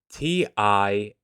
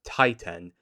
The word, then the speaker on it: Titan: However, Hal believes it's spelled Titan, Tighten, not Titan, like an Attack on Titan, showing that he may not be well educated.